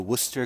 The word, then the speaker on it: Worcester: Worcester w r c s t r is pronounced Worcester surprisingly enough um it was the place where